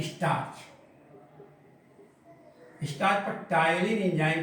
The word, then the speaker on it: ptyalin: उस लार में उपस्थित टायलिन एंजाइम, लेकिन इसको लिखते हैं अंग्रेजी में पटाइलिन, देखो PTYALIN, पी साइलेंट है, टायलिन इसलिए हिंदी हमने लिख दिया, इंग्लिश भी लिख दिया।